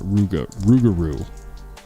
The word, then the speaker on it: Rougarou: how to say, misspelling it, Rougarou. Yeah, okay. How do you say it? You are saying it right.